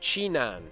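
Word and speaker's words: Jinan: I'm being told that it's pronounced Chinan.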